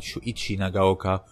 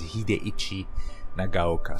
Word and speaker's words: Hideichi Nagaoka: for him on google you might find shuichi nagaoka or hidekazu but that's a mispronunciation his name is hideichi nagaoka so uh in the